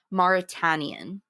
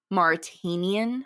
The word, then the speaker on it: The Mauritanian: It looks like Martian or a Manchurian, but it's I believe it's pronounced the Mauritanian. Mauritanian.